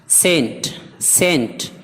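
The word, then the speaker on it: scent: ہے، سائلنٹ ہے، سائنس۔ سینٹ اس میں بھی سی خاموش ہے، عطر۔ مسل پٹھا۔ ڈسپلین نظم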